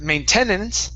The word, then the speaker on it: maintenance: the word maintenance okay so our stress is at the very beginning right instead of Maintenance it's maintenance maintenance maintenance there you go that's